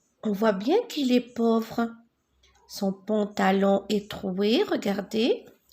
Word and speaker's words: pauvre: Regardez, A-U. A-U, je le prononce O. Le petit poussé est pauvre.